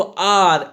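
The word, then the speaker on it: hour: लेकिन यहाँ ऐसा नहीं है क्योंकि ध्वनि देखो आर, एच साइलेंट है, ध्वनि आ की आ रही है, इसलिए यहाँ एन का यूज हुआ।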